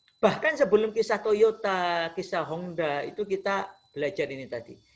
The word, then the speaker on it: Honda: Maka ingat baik-baik, Honda, H-O-N-D ya, Honda membacanya, kalau orang Jepang kan N dibaca eng, Honda, tulisannya Honda, bacanya Honda. Itu dulu ya belajar ke Amerika.